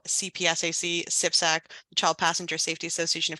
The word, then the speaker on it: CPSAC: talk a little bit about sipsac that's how we pronounce it our members Partnerships